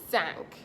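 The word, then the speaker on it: cinq: five thank thank thank it's sort of like I seen something sank into place so sank number six si si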